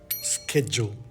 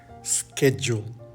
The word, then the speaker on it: schedule: Cada vez que veas una U al lado de una D en una vocal que no está acentuada, vas a decir Y. Y. Education. Education. Graduate. Graduate. Schedule. Schedule.